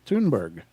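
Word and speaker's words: Thunberg: before greta tune oh they spell it toonberg t-u-n here so i guess it's toonberg was born the photo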